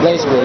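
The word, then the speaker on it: BlazBlue: Blaze blue, yep. Blaze or blast? Huh? Blaze or blast? Blaze. It's pronounced blaze, but without the E.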